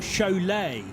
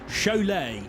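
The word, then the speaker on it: Šiauliai: i felt i should get this right it's pronounced show lay so chole racing team for rd signs they were the gtx race leaders overnight having completed 141 laps but s-i-a-u l-i-a-i the lithuanian pronunciation chalet and i quite like to visit there one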